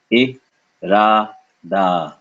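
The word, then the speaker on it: इरादा: First syllable, e, e, e. Is it short enough? E. Second syllable, ra. Is it long? Ra, ra. Last syllable, da. Soft D, no air. So we get I, ra, da. I, ra, da.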